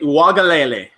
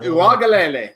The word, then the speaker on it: Uiagalelei: This is my first chance this year to get this name wrong, and it's not going to happen. DJ Uiagalelei. That's why I stuck with DJ, because I couldn't have done that. I know, but Uiagalelei.